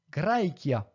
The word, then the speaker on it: Graecia: Litera che, pronunciatur que. Graecia.